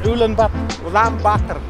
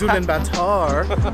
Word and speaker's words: Ulaanbaatar: Say it, Ulaanbaatar. There you go. I thought it was Ulaanbaatar, but no, it's Ulaanbaatar. Kind of like getting a batter burger in Dublin.